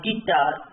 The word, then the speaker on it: guitar: It is getting the directly G and I, guitar. U sound is silent.